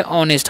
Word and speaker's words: honest: यहाँ पर एच जो है साइलेंट होता है, ठीक है, तो ईमानदार।